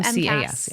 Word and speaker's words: MCAS: How do you say it? Cast. MCAS. So MCAS. Yeah. Oh, not a T at the end. Okay, MCAS.